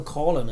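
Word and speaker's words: Coughlan: Oh, Colin, I believe he liked his name pronounced.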